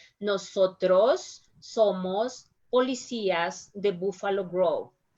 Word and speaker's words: nosotros: saying listen my pronunciation nosotros somos policias the buffalo grove remember that in english you said a little bit stronger than nosotros no sir trust in spanish we said a little bit softer nosotros nosotros so you